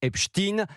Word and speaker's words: Epstein: élève de 5e, c'est qu'en anglais Epstein se prononce Epstein.